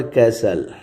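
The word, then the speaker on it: castle: ही केम across N ऑल कैसल। इसमें T silent है।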